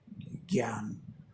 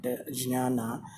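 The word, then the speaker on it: ज्ञान: world 33 squared is gyan. So there's a whole I always used to wonder why these people, the Indians from north, call knowledge gyan and not jnana, as it is pronounced in Sanskrit.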